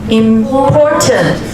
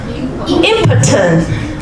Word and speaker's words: important: For example, how do you pronounce the first word? Important. But if you miss stress on the first part, it tends to be impotent.